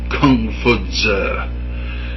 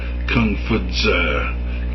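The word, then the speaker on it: Kong Fuzi: It was founded, of course, by Confucius, but that is a Latin version of the Chinese. If any of you speak Chinese, be prepared to go into hysterics at how I am mispronouncing this. I assure you accidentally. Confuzi, if you want to spell it out, Kung-Fu-TZE, which means philosopher Kung or master Kung.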